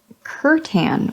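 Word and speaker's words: Kurnoth: custodies yep Nick run Curt an with a hard C they sound far less eldritch if you put the emphasis on the first syllable try it Curt an Kattan oh okay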